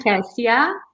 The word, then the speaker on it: Cassia: introduce myself first um i'm cassia the way you see your reading and your cream is the way you say it you pronounce it's also